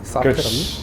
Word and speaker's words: 사페라비: 사페라비라고 읽나요? 사페라비? 그렇지.